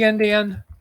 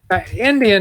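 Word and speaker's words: endian: one is called big indian the other is called little indian indian is spelled e-n-d-i-a-n it doesn't have anything to do with native americans or people from india or all the other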